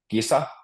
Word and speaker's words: kisa: Kisa means competition, and kissa means cat.